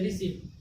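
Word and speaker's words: receipt: यहाँ पे देखिए टी से पहले क्या आ गया, टी से पहले आ गया पी, यानी कि इस वर्ड में क्या हुआ, टी का उच्चारण नहीं हो रहा है, यानी कि क्या हो गया, RECEIT, रिसीट। रिसीट मीन्स क्या हो गया,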